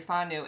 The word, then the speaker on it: whānau: So they take you in on as their whānau. Is that how you say it? Yes, you're whānau, and they call you auntie.